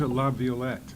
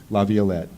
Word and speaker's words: LaViolette: how do you pronounce your name I've heard several variations I pronounced love viewlet Laviolette so I think I